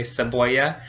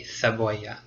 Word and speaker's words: cebolla: I would say cebolla. But if you want to sound a little more European, then you would make a TH sound, so it would be cebolla.